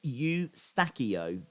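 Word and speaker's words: Eustáquio: to look for uh it's pronounced you stackio you use you stackio that's how it's pronounced eustachio oh okay thank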